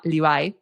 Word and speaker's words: Levi: Y este chico se llamaba Livai, que en Argentina es Levi. Entonces yo veía el escrito en el nombre Levi, ¿no? Entonces le digo, "Bueno, pero ¿cómo se pronuncia tu nombre? Porque no entiendo." Y me dice, "Como la marca, como la marca." Y yo decía, "Levi no le Levi." Y me dice, "Livai", me dice, "Livai."